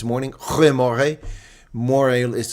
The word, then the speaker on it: môre: Or if it's morning, goeie môre. Môre is spelled like môre, m o r e with a little accent over it, the letter e.